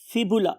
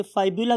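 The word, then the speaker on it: fibula: फिबुला. बहुत से लोग इसे फाइबुला भी बोलते हैं, but most one thing are spelling.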